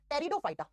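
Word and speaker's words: Pteridophyta: number दो पे आता है ब्रायोफाइटा और नंबर तीन पे आता है टेरिडोफाइटा लिखा जाता है टी से प्रोनाउंस किया जाता है टी से टेरिडोफाइटा हिंदी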